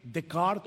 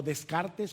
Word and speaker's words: Descartes: ¿Han escuchado la famosa frase de el filósofo francés René Decart o Descartes, como se escribe en español, pienso, luego existo.